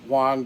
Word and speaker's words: Wang: and using the um the rich Wang by the way that's how I pronoun pronounced my last name um thinking about using